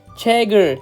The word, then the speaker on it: 책을: Okay, checker is the correct way. How about this? Checker.